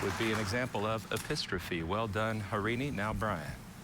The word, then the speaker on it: epistrophe: Epistrophe epistropy. E P I S T R O P H E. Apistrophy.